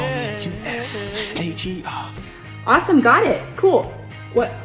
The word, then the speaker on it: Usher: Or, you know, sometimes I say Ursher, but that's not like phonetically how you pronounce, you know, so just to be sure. Yeah? Okay. Call out my name. Call me Usher.